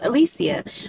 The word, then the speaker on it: Alicia: and I was like I think it's Alicia but it might be Alicia but the narrators pronounced it as Alisia which is such a beautiful